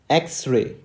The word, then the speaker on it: X-ray: the phone in phonetics the letter X is spoken as x-ray x-ray x-ray okay now let us